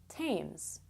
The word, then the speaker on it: Thames: TH words that don't sound like TH at all.